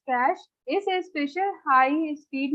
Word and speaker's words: cache: without a power tools cache memory pronounced as cash is a special high